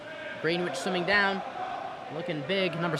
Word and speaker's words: Greenwich: clarification in chat that it is pronounced greenwich not green witch that's my bad i'll